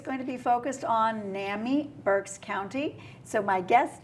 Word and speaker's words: NAMI: correct okay good and you're you're now you're pronouncing it right Nami ornami okay so what is Nami Naomi was